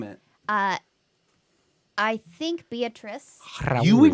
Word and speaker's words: Beatrice: Actually, Every time I see the name Beatrice, I just look at it, I say, beet rice. beat rice. I don't know why we pronounce it Beatrice.